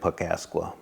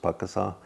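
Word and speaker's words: Pukaskwa: They have it looks like Puckasqua, but it's pronounced Puckasaw.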